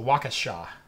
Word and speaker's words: Waukesha: aligning my chakras Waukesha Waukesha Waukesha Waukesha walk s sha I was putting the emphasis on the wrong syllable so Waukesha absolutely thank you for